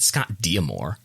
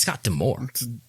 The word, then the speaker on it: Scott D'Amore: i listened to other wrestling podcasts it's not scott diamore right it's scott d'amore scott damore that's how it's always been that's how they pronounced it when he was managing a tna